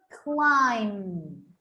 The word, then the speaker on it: climb: in the classroom that everybody gets wrong at first climb climb climb climb between the letter m and n it's when we say the letter m we have to just close or our lips have to go slightly together like this climb yes it's like